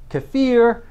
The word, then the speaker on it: kefir: research in regard to how kefir or if you like the pronunciation to fear basically help reduce hypertension